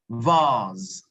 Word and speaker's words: vase: Number 3, only Asho got number 3, vase. Vase. Now, in pronunciation, we do not have the E, but it is not silent because it is working with the A.